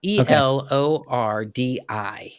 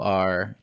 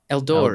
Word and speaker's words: Elordi: Okay, tell me how to pronounce this. Elordi. Let me see. Can you have it pulled up? Elordi. Yeah. Eldori. Eldori Okay. sounds.